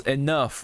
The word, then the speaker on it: enough: but then why does why does enough right you don't spell with a F you spell with GH then that becomes a an F sound all of a sudden like it's just like